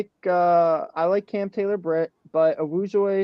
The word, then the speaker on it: Awuzie: I like Cam Taylor-Britt, but Awuzie is coming, I might be saying his name wrong. Awuzie, thank you.